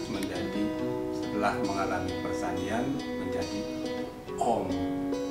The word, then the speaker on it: Om: A, U, M, Aum disingkat menjadi, setelah mengalami persandian menjadi Om. Jadi kalau pengucapannya vokal O, bukan Hom.